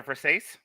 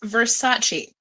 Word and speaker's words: Versace: Is it a Versace? It's pronounced Versace.